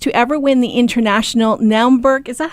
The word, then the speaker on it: Naumburg: first German artist to ever win the International Naumburg, is that how it's pronounced?